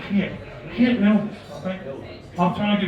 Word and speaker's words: Geert: I think in Dutch it's Geert.